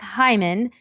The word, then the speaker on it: Heuman: So my last name is a little crazy to spell. It's pronounced Hyman.